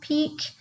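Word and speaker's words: pique: are peeking someone's interest that is the piq ue peak not PE EK but the student is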